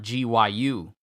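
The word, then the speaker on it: Ryokugyu: But I've been saying Ryoku Gyu's name wrong all these years. Gyu is G-I-U-U. G-I-Y-U. Not G-Y-U.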